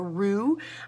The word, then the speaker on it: roux: that starts out with a roux and I think that is one word that you should know it is a French word and it is spelled ro UX so a lot of times people are like oh that's not you spell rube well if you are French that is how you would spell roux and since we get that word from the French that's how we spell it all right so